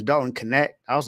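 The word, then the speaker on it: Knecht: I've been saying Dalton Net and it's Dalton Connect.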